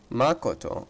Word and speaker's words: Makoto: also my sister ryden makoto makoto okay so that's how it's pronounced my bad he may